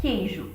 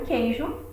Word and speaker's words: queijo: Então, nós vamos ter o queijo. Reparem que a letra Q é como se ela estivesse sozinha. O U não é pronunciado.